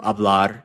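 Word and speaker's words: hablar: a right to speak remember the H is always silent in Spanish that's why I'm not pronouncing that H right we're not even looking at the verb abl and we still know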